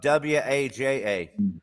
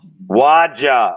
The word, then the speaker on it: WAJA: we need the correct pronunciation of WAJA. Yeah. Tell it. Waja. Waja. Okay, I got it now. Yep. So if you say it fast, it's like Waja.